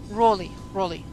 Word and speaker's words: Raleigh: Rely or Rally, but it does ring a bell. But if someone would ask me to place it on the map, I wouldn't. Raleigh. Okay, that makes sense.